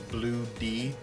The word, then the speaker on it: Blue D: And so, because the way you pronounce it is Blue D, bloody, but then at the